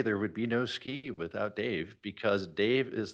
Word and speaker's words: SCI: idea why don't we call ourselves scientific Computing and imaging and pronounce ski and we all said